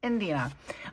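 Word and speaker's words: Idina: Indina there it is I can never say her name I always want to say India it's Indina um and uh I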